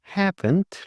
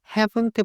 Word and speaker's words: haven't: They haven't lived. 자, 그리고 여기서 haven't 발음해 주실 때 have죠. HAVE예요. V 발음해 주실 때 윗니를 아랫입술에 대주시고 V예요. 그래서 haven't, haven't, haven't.